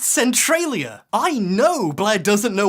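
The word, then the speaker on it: Centralia: It's actually pronounced Centriia.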